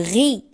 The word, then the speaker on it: riz: Ra ro re ri ra ro ru re ri ri ri le ri on prononce pas le z le riz la rue.